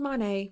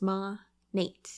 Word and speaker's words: Monat: if you will also it's not called Monet Monet monat no it's not it stands for modern nature so therefore it is ma Nate that's how you pronounce it and if you say